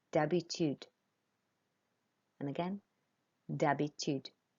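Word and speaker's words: d'habitude: done if you said Debbie tude so we don't pronounce the H in Debbie tude it's like it's just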